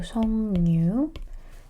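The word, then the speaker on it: 석류: Pronunciation is changing completely into 성류.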